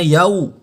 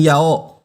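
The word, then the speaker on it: يَوْمِ: Maka bacanya yau. Bunyinya yau, bukan yao.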